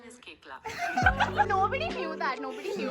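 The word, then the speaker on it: Koechlin: There's coach and the real pronunciation is Kekla.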